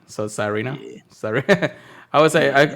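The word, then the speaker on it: Tsareena: So Sarina. Yeah. Sorry. I Yeah. always call it Sarina anyways, but I think the S is silent.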